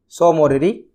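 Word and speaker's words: Tso Moriri: इसमें T silent है, सो मोरिरी और सोकर।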